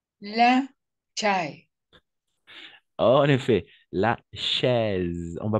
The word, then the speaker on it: chaise: La combinaison de voyelles A et I, toujours A et I, on va prononcer comme un E. D'accord? A et I, toujours comme un E. Donc, chaise. D'accord?